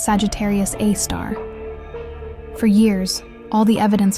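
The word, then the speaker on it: Sagittarius A*: This invisible giant at the center of our galaxy has a name, Sagittarius A, pronounced Sagittarius A star.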